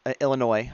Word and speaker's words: Illinois: a few in Illinois Illinois I should say the S is silent one in Florida and